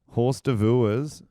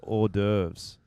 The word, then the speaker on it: hors d'oeuvres: Horse d'oeuvres is actually pronounced hors d'oeuvres.